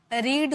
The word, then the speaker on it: read: और जब भी आप रीड को वर्ब की सेकेंड फॉर्म के रूप में लिखते हो तो इसकी प्रोनाउंसिएशन रेड में की जाती है। First form रीड, second form रेड, third form रेड।